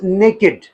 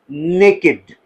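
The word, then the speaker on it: naked: जैसे मैं कहता हूं the child is नेकेड। The child is नेकेड। नेकेड child. बच्चा जिसने कुछ भी नहीं पहना। ठीक है? नेकेड इट is pronounced as नेकेड। ना नेक्ड। ओके?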